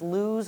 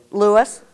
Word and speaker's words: Lewis: was significantly farther um i've heard it pronounced lose or louis so does anybody have any insight on the cornec lewis i knew you would know so um so they